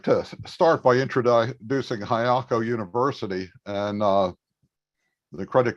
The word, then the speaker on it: Highako: register yourself for free hayako is spelled h-i-g-h-a-k-o just like it sounds uh we also have